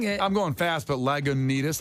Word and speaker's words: Lagunitas: Hop taste zero alcohol is that how you say that Lagunitas yeah that's how you say it is that the l-a-g-u and that one yeah well you say it slowly Lagunitas yeah I thought it was lagundas what was the point